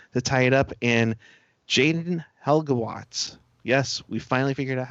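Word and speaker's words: Jayden Halbgewachs: 3:27 to play to tie it up, and Jaden Helgewatz. Yes, we finally figured out how to pronounce his name.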